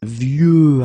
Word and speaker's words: vieux: Okay, of course you've got this X at the end, but you don't pronounce it. Okay, so it's vieux arbre, and then vieux actually will have a second masculine form, and it's vieille.